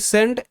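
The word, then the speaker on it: scene: সিন, এখানে দেখো এস সি দুটো মিলেই স সাউন্ড, সি এখানে সাইলেন্ট থাকবে, এগুলো সাইলেন্ট লেটারের ক্লাসে শেখাবো, অ্যাডভান্স রুল এগুলো।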